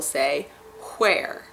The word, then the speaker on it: where: And in the Deep South it turns into almost two syllables, where. My dad, who is from Tennessee, has a variation where he pronounces the H in where, so he will say where.